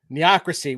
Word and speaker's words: neocracy: Neocracy would be the way that it is pronounced, Nicholas. Sort of Thank like you. bureaucracy.